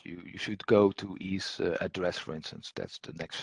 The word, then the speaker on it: EASE Address: are covered in an e's address but i think this is what you uh you you uh uh pronounce it wrongly ease address this is the simple